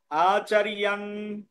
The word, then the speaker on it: आचार्यान्: আচার জান হবে না, আচার্যান। আচার্যান উচ্চারণ হবে না। উচ্চারণ কি হবে তাহলে?